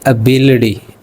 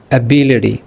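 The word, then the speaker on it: ability: एबिलिटी का भी अगर गौर करें तो टी के दोनों तरफ जो है वॉल साउंड है या सिलबल वाई आ रहा है। तो हम इसको भी अड़े की आवाज़ देंगे। गोया कि हम कहेंगे एबिलिटी एबिलिटी।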